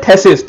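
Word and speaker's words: phthisis: थेसिस एंड प्लूर थेसिस मतलब टीबी P silent होता है पीएच साइलेंट होता है इसको बोलते हैं थेसिस थेसिस मतलब टीबी का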